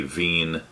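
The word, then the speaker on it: Wien: after max carl verner veen a german physicist and director of the institute of physics uh blah blah and as it is a german name it should be veen so that's the pronunciation and uh once again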